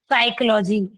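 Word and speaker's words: psychology: जबकि पी is silent in साइकोलॉजी ठीक है।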